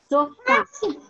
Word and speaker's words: sofá: Sofá. Qual que é, Maria Fernanda? Fá. Fá, ok.